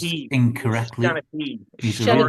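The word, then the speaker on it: seanchaí: storytelling or Sherlock, which I've pronounced Shanachie. incorrectly. Shanachie. He's a real Shanachie.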